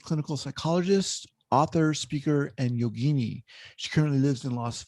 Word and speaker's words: yogini: Anders is a licensed clinical psychologist, author, speaker, and yogini. She currently lives in Las Vegas, Nevada. Did I pronounce that right? Yogini.